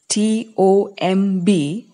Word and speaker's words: tomb: housing such a tomb a tomb T OMB pronounced tomb is a pit in